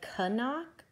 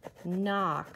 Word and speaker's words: knock: knock do we say Kanak no we say knock so that K is silent we don't say let's